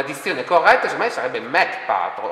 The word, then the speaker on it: Mach Patrol: Dunque, se noi pronunciamo Match Patrol, dovrebbe essere scritto M-A-T-C-H. Se noi pronunciassimo Mach Patrol, in realtà la dizione corretta sarebbe Mach Patrol. Perché è Mach 1, Mach 2, esatto.